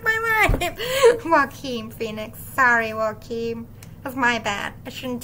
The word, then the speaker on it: Joaquin: Jaquin Phoenix. Joaquin.